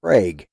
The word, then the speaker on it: Prague: a place in oklahoma in oklahoma we pronounce it craig it's craig oklahoma and uh every year they have a coalwashing festival up there and it's you know it's actually named after prague as a matter of